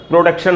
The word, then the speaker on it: production: हम बोलते हैं ना प्रोडक्शन हो रहा है, प्रोडक्शन मैनेजर, प्रोडक्शन नहीं है दोस्तों, इसका उच्चारण PRODUCTION का प्रोनाउंसिएशन है प्रोडक्शन।